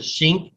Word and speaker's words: Schenck: Also a man by the name of Schenck will oppose it. Some people pronounce it Schink, I think, or Skank, or whatever.